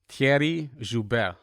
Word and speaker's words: Thierry: making that money doing his real estate game thierry did i pronounce it correctly you did